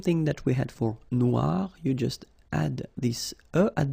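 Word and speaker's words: noire: it's quite funny because you will have to add this at the end of Noir for the feminine form but then you don't pronounce it okay so phonetically it is exactly the same Noir Noir Okay g don't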